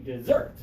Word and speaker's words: dessert: give me desert okay and now give me dessert dessert good I heard the strong first syllable and the strong second syllable Geraldo your